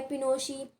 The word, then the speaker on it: Pinochet: General Augusto Pinochet, pronounced by Pinochet, and Army General led the coup.